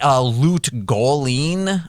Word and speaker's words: Lut Gholein: But Lut Gholein, I believe is how you pronounce the town in that.